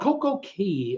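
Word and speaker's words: CocoCay: what a story Jim it's called Coco ki which rhymes with day not kee coke okay not tea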